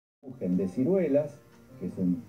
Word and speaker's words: Kuchen: La palabra Kuchen, que se escribe con CH, pero la CH en alemán se pronuncia J, es el término que